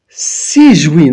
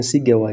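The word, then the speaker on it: Sigewinne: A new Sijuin, that's how you say her name. Some of us have been reading Sigewa in all this time.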